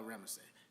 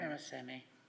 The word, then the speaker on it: Ramasamy: Ricotta, my man Bala Ramesay. Did I pronounce that last name correct, Sister Ilana? Ramasamy. Ramasamy. Thank you so much.